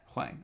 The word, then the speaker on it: Hwang: Yeah, Hwang.